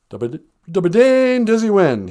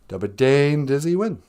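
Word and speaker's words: Dbaadendiziwin: Dubadane Dizzy Win. Duh. A's sound like like in All Night, the Kiss song.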